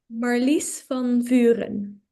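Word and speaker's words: Marlice van Vuuren: Marlies van Vuren.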